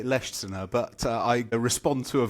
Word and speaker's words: Leschziner: How how would you say it? I I would say Leer, but I respond to a variety of pronunciations.